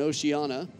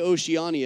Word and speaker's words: Oceania: for table tennis and oceanana I used to say Oceania because that's how it's spelled but it's said by the locals Oceana so just trying to